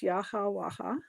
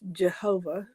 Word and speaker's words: Yahweh: Of course, I say that it's Yahwaha, but the only pronouncing that I absolutely discount is Jehovah. There's no J in Hebrew. There's no V in ancient Hebrew.